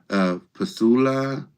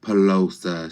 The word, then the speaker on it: Pasula: And again, you're citing Pasula, and it's Pasula, not Pelosa.